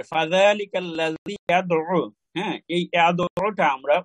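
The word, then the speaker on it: يَدُعُّ: যেমন আমরা অনেক সময় আইনের যে দাল আইন ফেস দু, দাল মানে আইনের উপর তো তাসদীদ, এই জন্য আইন দুইবার উচ্চারণ হয়, দালের সাথে একবার দাল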